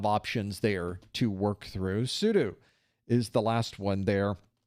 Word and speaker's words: sudo: Or as some people said, You need to say sudo. Well, either way is fine, quite honestly. One of the things about Linux is there is no proper way to say anything, it seems. Half the camps say you should say it one way, half the camps say the other way.